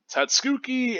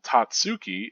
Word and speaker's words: Tatsuki: Well, the accent in Tatsuki is on the ta. It's like ha-zuki. That would be the first syllable, folks.